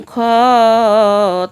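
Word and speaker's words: خ: হায়ের উপরে একটি ফোঁটা থাকলে তার নাম খ, তার নাম খ।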